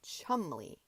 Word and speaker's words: Cholmondeley: Cholmondeley sounds prettier, as you call it, than chumley.